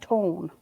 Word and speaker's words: ton: I believe she said it's like tone.